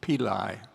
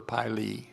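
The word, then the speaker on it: pili: ribosoms, plasmids, flagagula, and peli or pile, however you want to say it. I've seen it pronounced both ways.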